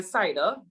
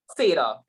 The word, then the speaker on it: Cedar: with me to um the cider am i pronouncing incorrectly um it's cedar gotchu yes i will send